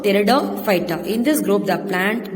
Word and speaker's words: Pteridophyta: The P is silent, children. So Pteridophyta.